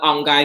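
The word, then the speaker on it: UNGEI: People usually call it UNGAI because the way that it's spelled.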